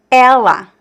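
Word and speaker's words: ela: And you notice that the feminine word Ella uses the open sound and the masculine word uses the closed sound.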